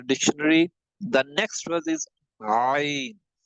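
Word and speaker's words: ع: The next word is ayn. Ayn will has to be pronounced with the middle of the throat.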